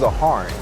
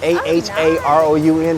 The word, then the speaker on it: Aharon: My brother's name is Aharon. It's Arabic for Aaron. Aharoun. It's long. But it's when we tell people say Aaron, say Aharon.